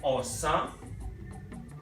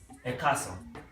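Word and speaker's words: ọ̀sán: And the real spelling is Osan, right? Let me put accent on that one. Osan, right? But when you are calling them together with other words, they compress it. Yoruba will compress the words to say Ekason.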